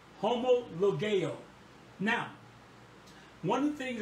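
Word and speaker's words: homologeo: now listen to this homologo homologo that word is is spelled h o m o l o g e homo ligue now one of the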